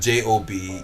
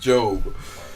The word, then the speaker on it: Gob: favorite characters um job but his name is spelled with a G it's not j o b e it's j it's g o b Gob but it's pronounced it's pronounced it's pronounced job so you get job